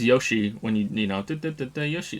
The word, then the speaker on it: Yoshi: bad I also knew some people that pronounced Yoshi as yashi and that bothers me too so I can be hypocritical like Yosi just sounds really bad also he says Yoshi when you you know